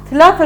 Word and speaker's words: Telafer: Irak'ta en önemli en büyük Türkmen ilçesi olan Telaferin adını Halk Tilafer olarak telaffuz eder.